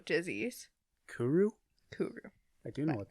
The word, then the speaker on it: kuru: So the disease is called Kuru disease. Kuru? Kuru. I do know what that is. Okay, let me make sure I'm pronouncing it correctly.